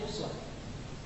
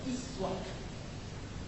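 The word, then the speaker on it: أسوة: Kita bacanya uswah. Riwayat lain, riwayat Qalun dan Warsh. Di Quran ada 7 riwayat. Di antaranya Qalun dan Warsh dari Nabi', riwayatnya tidak membaca dengan uswah, dibacanya iswah.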